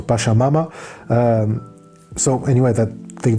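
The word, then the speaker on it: Pachamama: Um pakamama I think that's it is pronounced or pashamama.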